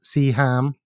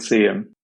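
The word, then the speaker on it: Seaham: little place called see him see him or see ham i pronounce it see him which is 10 kilometers south of sunderland but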